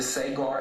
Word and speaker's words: Sagar: How do you pronounce it? Shigar or? It's a Sagar and a Shekar.